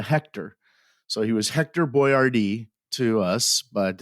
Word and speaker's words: Boiardi: him by his name his name was Ator boardi uh at to is